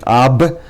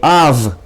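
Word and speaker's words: אב: Av, instead of saying ab, we say av.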